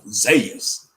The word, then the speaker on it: Zeus: like i heard something i heard somebody pronounced who's like this before zayus i think brother jacob announced it like i said man that might be how they really pronounce it in the greeks yes you're like hey